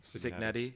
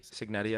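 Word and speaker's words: Cignetti: Signetti Signetti. Signetti, I believe.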